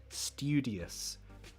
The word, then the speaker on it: studious: So you could pronounce this one as tu, like in phonetics. Oh my god, I hate phonetics. Stupid. Like stupid. You could say stew. That's the sound we're trying to get, right? Stupid. Students. Studious. Some people pronounce it like that. I prefer not to. Why? Because to me, that sounds more posh.